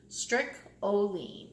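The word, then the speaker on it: streak o' lean: Stricoline is how they pronounce it. And I guess it's because it has that streak of lean meat in it, but the rest of it is all fat.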